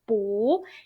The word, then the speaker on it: 不: character is fourth tone, you need to pronounce the 不 character as second tone 不 instead of fourth tone.